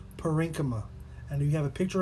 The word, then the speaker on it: parenchyma: we have parenchyma now number one is pronounced parenchyma and you have a